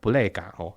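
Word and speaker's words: ブレーカー: Nhìn cái Pulae Ga phía trên cùng kìa Trong tiếng Anh gọi là Breaker Trong tiếng Nhật, nó được đọc là 'Pureika'.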